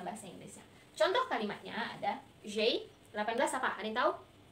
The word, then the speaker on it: j'ai: Tapi karena dia ketemu dengan huruf vokal, jadi e-nya dihilangkan diganti dengan apostrof. Jadi bacanya j'ai.